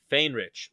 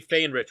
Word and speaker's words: Faehrich: pronounce your last name how do you pronounce it fain rich randy feinrich welcome to madison the